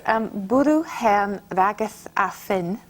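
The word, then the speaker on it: bwrw hen wragedd a ffyn: And there's a wonderful linguist, Michael Quinion, who found this Welsh expression, and Carol told me how to pronounce it. It's bwrw hen rageth a ffyn, and it means raining old ladies and sticks.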